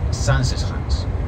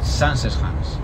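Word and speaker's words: Zaanse Schans: El pueblo se llama Sansesans. Familia, apuntad, o grabad, mejor dicho, porque esto cae al final, en el examen de vuelta a Ámsterdam, cae la pronunciación del primero de los pueblos. Sansesans.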